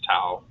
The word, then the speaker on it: tau: Um, it's pronounced tau.